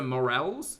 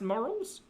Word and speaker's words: morels: Oh, those are morels? Wait, do you all actually pronounce it differently? Are they not pronounced morals?